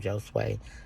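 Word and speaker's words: Josué: So my actual pastor, I don't want to say his name because I always say it wrong, but it's Josue. That is his name, so I know I pronounced it right this time, Josue.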